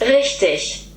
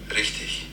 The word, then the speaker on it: richtig: So this means right, like you've got something right in English, and according to Google, this is pronounced Richtig. According to my husband, it is pronounced Richtig.